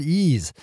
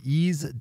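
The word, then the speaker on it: Eaze: brought to you by our friends over at ease California's top one-stop website for legal marijuana delivery if you live in California need fully legal cannabis delivery at a great price then you want to open up ease calm which is spelled EI z e these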